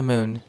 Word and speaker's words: Mün: I'm going to shoot for the moon. And that's spelled M-U with the two dots over it, N.